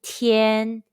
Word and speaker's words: tian: Let's combine the initial t, the final yen, and the high-pitched first tone all together. T, yen, tian. Repeat after me. T, yen, tian. Tian, tian, tian.